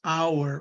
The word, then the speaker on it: hour: we have our honest the h is silent the h is a consonant but it doesn't have any sound so we use an hour because we have the